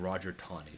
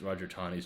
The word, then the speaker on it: Roger: for a few years was a man named Roger Taney, spelled Taney, but pronounced like there's a W in there, Taney, Roger Taney.